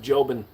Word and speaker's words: Jobin: Hate to be that guy, but it's pronounced Jobin.